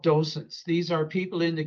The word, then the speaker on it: docent: And we've talked about the concept of, Ernie, can you say it for, because I always pronounce it wrong. Docent.